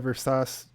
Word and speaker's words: Versace: next scene is them going to buy the Versace dress, Yeah. and it's revealed. It's pronounced Versace, Jason.